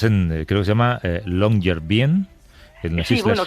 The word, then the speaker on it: Longyearbyen: Estás en, creo que se llama Longyearbyen. Sí, bueno, se pronuncia de una manera absolutamente infernal, algo así como Longyearbyen o algo así, en noruego, pero significa algo tan